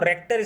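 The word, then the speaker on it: Richter: अब लोग रिचर scale इसलिए मैंने बताया कि बहुत लोग रिचर स्केल बोलते हैं, नहीं ऐसा नहीं है। इसका जो प्रोनाउंसिएशन है वो रेक्टर स्केल होता है, ठीक है। थोड़ा सा अलग है।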